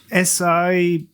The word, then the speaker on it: Sienci: But the SIENCI, supposedly pronounced like CNC.